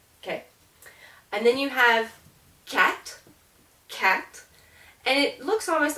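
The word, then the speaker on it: quatre: help you remember that this R uh is pronounced okay and then you have cat cat and it looks almost like if you think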